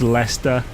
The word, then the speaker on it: Leicester: So, when you see something spelt like Worcester or Leicester, it's Leicester, Worcester. That's how it's said.